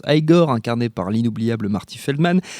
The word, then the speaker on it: Igor: par son assistant évidemment bossu Igor, qui se prononce Igor, incarné par l'inoubliable Marty Feldman, et par la